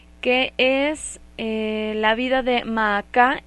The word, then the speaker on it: Maacá: Su nombre en hebreo es igual que como lo encontramos en el español, la pronunciación es la misma, Maacá, y bueno, con este